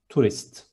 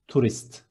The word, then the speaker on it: turist: And tourist is two short syllables, turist. One more time, turist.